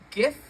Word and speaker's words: GIF: had a girlfriend, and she actually pronounced it Jif, and I think that was the first red flag. And I'm kind of glad she's an ex now, because that's like the I feel like I should have ran the other direction when I heard her say Jif, because it's pronounced GIF.